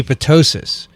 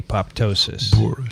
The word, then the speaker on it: apoptosis: was boorish to say apoptosis i mean they made me feel like an idiot how could you pronounce it that way it's obviously silent would you say ptosis potosis no okay fine and then he